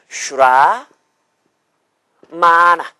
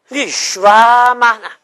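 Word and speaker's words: śramaṇa: 분하면 그렇게 구분이 돼요 슈라마나 한번 따라보세요 슈라마나 슈라마나 슈라 마나가 아니고 슈라마나 응 라마도 아니고 슈라마나 응 한번 더 슈라마나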